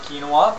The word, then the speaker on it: quinoa: um you're looking for quu i n o a which I know doesn't sound like quinoa but that's the South American pronunciation the way to cook